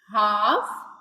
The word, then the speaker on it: half: It's mean it's हाफ HALF. L इज जो है वो ये साइलेंट हो जाएगा.